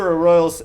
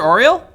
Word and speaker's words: Arroyos: Peter Arroyos has said, Big Trouble. Thanks for joining us, Peter. Brandon Primus said... Peter Oriole? Yes. Oh, okay. Hi, Peter. I pronounced your name wrong.